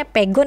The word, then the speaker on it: Pegon: aksara asli yakni Pegon atau Pegon ya Ini bacanya Pegon ya Bun Oke ini Tentunya sih banyak masyarakat